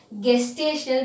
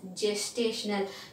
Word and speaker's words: gestational: never pronounce it as gestational because it is starting with g it is gestational like imagine as if it starts with j right so this is called as gestational period and now this